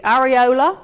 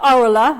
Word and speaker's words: areola: using in British English there are three acceptable pronunciations for that word so we've got the areola which I think a lot of us say we've got the rola and we've got the areolar all those three pronunciations are considered valid so that's a bit